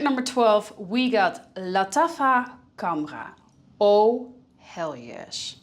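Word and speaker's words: Khamrah: guys and at number 12 we got LFA kamra oh hell yes it's pronounced LFA KRA in Arabic which means liquor and it's meant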